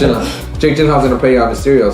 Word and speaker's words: Gyllenhaal: And looking forward to seeing Mysterio on that because Jake Gyllenhaal. Yeah, Jake Gyllenhaal. It's pronounced Gyllenhaal.